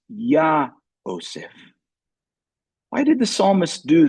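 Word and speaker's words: יהוסף: In fact, the psalmist here adds this letter Hey, so that when it is pronounced, it is Yah-oseph.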